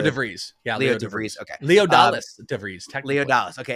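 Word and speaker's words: Leodalis De Vries: Leodalis DeVries, is that the correct way to pronounce Leo DeVries. Yeah, Leo DeVries. Okay. Leodalis DeVries, technically.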